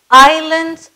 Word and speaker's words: island: All islands are natural. S is silent here.